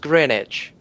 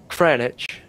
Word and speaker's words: Greenwich: This word Greenwich this way spell will be pronounced Greenwich without W without it Greenwich just like Greenwich. Yeah. In both countries. Mhm. Actually in the UK they will say it cranwich just like that.